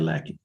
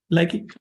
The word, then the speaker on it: Lakey: Lakey, will you pronounce it Lakey or Lackey? Lakey, Mr. Lakey, you'll be free to go.